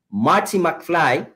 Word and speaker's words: Marty: Es correcto decir Martin, pero los ingleses parlantes pronuncian Marty McFly.